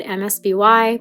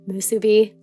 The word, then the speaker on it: MSBY: post time skip volumes, it even says in the English release that it's pronounced Musubi.